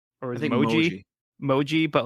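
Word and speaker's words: Mohji: Either way, It's like a longer O sound, I guess. Moji. Moji. Moji.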